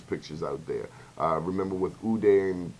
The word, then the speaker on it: Uday: Remember with Uday and Qusay, if I'm pronouncing their names correctly, That's correct.